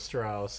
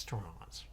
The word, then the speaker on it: Strauss: up working with Strauss and Straws. Straws Gabe. it's pronounced Strauss.